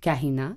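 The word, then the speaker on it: Kahina: savoir que el canana c'est le nom d'une reine berbère donc du de l'Afrique du Nord à Mair et qui se prononce Kina donc la Kain et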